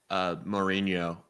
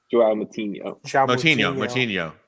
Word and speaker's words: Moutinho: Mourinho. I'm forgetting his first name. You said the last name wrong, but I know who you're talking about. The right player, Joao Moutinho. Moutinho.